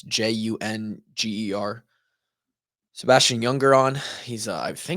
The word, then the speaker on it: Junger: He had a man named Sebastian, I believe pronounced Younger, but it's Junger.